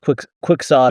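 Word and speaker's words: quixotic: No, that's how it's pronounced quicksotic.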